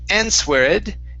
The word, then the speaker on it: answered: In this word, the W is not pronounced, okay, and we do have an ed ending here. So instead of answered, it's answered, answered.